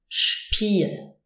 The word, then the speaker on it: Spiel: ST or SP, then the S is actually pronounced sh. So we say Stuhl, Stuhl and Spiel.